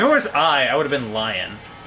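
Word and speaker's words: Lyon: Vicky, Wendy Leon. I think that's pronounced Lion. Lion Leon. I'm pretty sure that's Lion.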